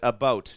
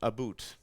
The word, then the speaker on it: about: I speak English and French, not American, and I pronounce it about, not aboot.